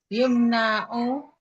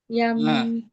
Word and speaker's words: يمنع: Fataha yaftahu. Yamna'u. Yamna'u terus dia muta'addi. Yamna'u iradatal haqiqati.